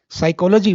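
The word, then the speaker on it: psychology: साइकोलॉजी वन ऑफ the best examples to understand spellings as well as dense of silent letter. तो पी से शुरू हो रहा है। पी हम प्रोनाउंस नहीं करते हैं।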